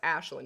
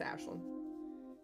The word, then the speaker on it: Ashlyn: It's pronounced Ashlyn. It's an Irish name. I did a lot of research. Trust me, it's Ashlyn.